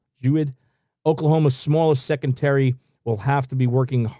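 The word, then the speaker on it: Jeudy: Jewett.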